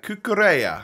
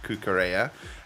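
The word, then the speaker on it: Cucurella: the 87 rated uh kukureya i think is how you pronounce his name that's what people have been telling me anyway uh but welcome to the club 87 rated kookarea uh and i'm not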